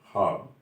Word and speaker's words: خواب: ہے۔ تو ایسے الفاظ خے واو الف جہاں ساتھ مل کے شروع ہوتا ہے، وہ خے الف کی آواز دیتا ہے تلفظ میں، وہاں واو سائلنٹ ہو جاتا ہے۔ جیسا کہ میں نے ابھی عرض کیا، خواب کا صحیح تلفظ ہے خواب، خواہش کا صحیح تلفظ